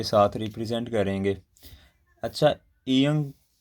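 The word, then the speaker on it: 이응: अच्छा, ईयंग किसी भी वर्ड के स्टार्ट पे आएगा तो इसकी साउंड जो है ना, स्टार्ट की, शुरू की, वो बिल्कुल कोई भी नहीं रहेगी, ठीक है, साइलेंट रहेगा, साइलेंट। स्टार्ट पे क्या रहेगा, साइलेंट। इन केस ये किसी वर्ड के मिडल में आता है तो तब भी ये साइलेंट रहेगा। लेकिन अगर किसी वर्ड के लास्ट पे आएगा तो इसकी साउंड होगी अंग, अंग।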